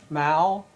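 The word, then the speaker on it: Moul: My name is Mal. That's spelled M O U L. And the way I pronounce it, it rhymes with owl.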